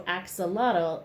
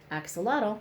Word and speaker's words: axolotl: So axolotl is the canine Aztec god. So the word axolotl means water dog.